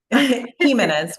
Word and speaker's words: Jimenez: Jimenez. Is my pronunciation correct? How do you Close. pronounce? Jimenez with an H sound.